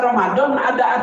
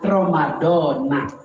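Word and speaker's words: رَمَضَانَ: hai halo belajar ngamuk bacanya Romadhoni kalau ngikutin keumuman Romadhona tapi dua-duanya sah Romadhona sah Romadhoni juga sah-sah kalau ada orang niat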